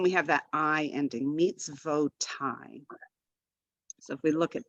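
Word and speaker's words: מִצְווֹת: So it's not mitzot, mitzvot. Same idea here. We have mitz, vo, and then we have that I ending, mitzvotai.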